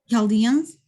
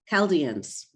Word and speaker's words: Chaldeans: just set the stage your background are the chaldeans am i pronouncing that correctly eldians say it again yes chaldeans chaldeans okay okay great so can you tell us